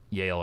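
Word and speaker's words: Yahl: Yale as in the college, but not spelled like the college.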